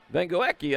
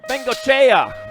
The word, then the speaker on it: Bengochea: That's going to be your 95 bike of Vengoekia and the 29 bike of Prusnak transferring. Oh, Bengochea. That's what it is, Bengochea. Yeah, well, I learned how to pronounce that earlier this year.